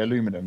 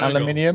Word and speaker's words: aluminium: video stuff CU it if you're American you spell it aluminum as you can see on the screen so you'd say aluminum but if you British or I'd imagine Canadian you spell it aluminium well the official internationally accepted way of doing it is aluminium however um people it's been it's acceptable to say aluminum because you know you can't tell the Americans to do